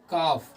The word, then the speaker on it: calf: फिर अगला एग्जांपल है काफ, CALF, काफ, यहाँ पर L साइलेंट होता है, काफ मतलब होता है बछड़ा, नॉर्मली गाय के बछड़े को अपन काफ कहते हैं।